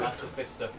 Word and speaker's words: artificer: Oh, Artificer. This one. Ayo. No, that's a multi-class monk. Hardly know it. No, that's a rogue. If you want the proper English pronunciation, it's artificer.